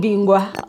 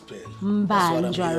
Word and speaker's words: Mbanjwa: And she Mbanja. You know what? You know why I'm avoiding saying her surname is because of you kept on saying Bingwa on the previous.